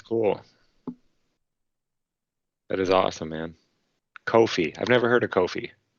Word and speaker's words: Ko-fi: their actual YouTube channel they all call it Kofi really yes all right now I'm thoroughly confused okay yeah me too because I clearly want to say coffee bro yeah you called it Kofi at first I was like dude their whole YouTube all their employees their websites that if you get it read out loud it literally says Kofi like even the I